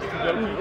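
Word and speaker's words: gi: teach me some Judo got my joki on that's how you say it right ji yeah kind of g g for short oh G I got my ghee on first I had to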